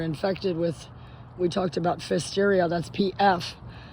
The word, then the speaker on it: Pfiesteria: or not we're infected with, we talked about Pfiesteria, that's PF. Pfiesteria, spelled like that.